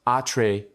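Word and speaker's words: Atreides: Into this complex game of power, we now introduce House at Trades, pronounced atree dees.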